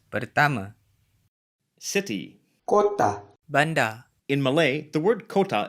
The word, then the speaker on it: bandar: In Indonesian, bandar is usually a port or a water channel rather than a city. Oh, gitu. Notice that the final R is silent in many Malay accents, including the mainstream Johor, Riau, Selangor Malay.